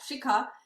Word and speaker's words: Shikha: Yeah, Shikha. So Shika. Shikha. So easier is like Chicago. Remove the go.